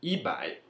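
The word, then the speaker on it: 一百: Porém, quando eu vou falar 100, eu vou sempre fazer uma multiplicação. Vai ser 1 vezes 100. Então, vai ser ibai. Apesar do bai ser 100 sozinho, quando eu for falar 100, eu sempre falarei ibai.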